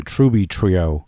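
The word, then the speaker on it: Trüby Trio: that particular country yeah so i haven't said tribitrio in a long time i i'm supposed to say truby trio yeah i mean that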